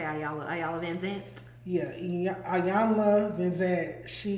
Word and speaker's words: Iyanla: Iyanla is back.